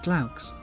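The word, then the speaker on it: glaux: the goddess athena you should pronounce it claux from what i recall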